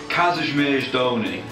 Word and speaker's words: Kazimierz Dolny: Kazimierz Dolny.